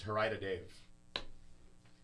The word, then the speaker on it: Haradav: No, it's Harida Dave. All right, I like Moon Cookie better. Yeah, he told me it's Harida Dave.